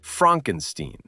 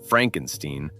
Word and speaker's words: Frankenstein: Frederick Frankenstein spends the entire first act insisting his name is pronounced Frankenstein, not Frankenstein, because he's desperate to distance himself from his grandfather's legacy.